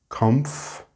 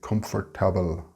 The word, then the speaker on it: comfortable: Comfortable is written very like the Spanish word, but the pronunciation is quite different. It only has 3 syllables. Comf-ta-ble. It's very tempting for you to say comfortable, but that is 4 syllables, so don't add the extra syllable.